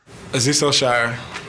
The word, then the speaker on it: Azeez Al-Shaair: 49ers website, and they have all the players pronounce their names on the website. Do you have that, Hunk? Here it is. Azeez Al-Shaair, number 51.